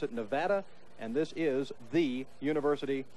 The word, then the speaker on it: Nevada: Georgia Southern College, that the folks out here pronounce it Nevada, and this is the University of Nevada, Bucky.